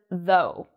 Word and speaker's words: though: have here the word though notice how i'm pronouncing the o-u-g-h in this word though it sounds just like the letter o or the oe in toe so ough sometimes is